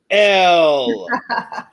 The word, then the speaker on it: Elle: And her partner, who is not present, is pronounced Elle. Looks like this, pronounced like this. So you guys don't mess it up. It's not Ellie.